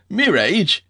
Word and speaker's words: mirage: Asked Uncle Benjamin, and not waiting for Valency to give it up, he added, Mirage and marriage. M-I-R-A-G-E is pronounced mirage, said Valency shortly, picking up her tea and her beans.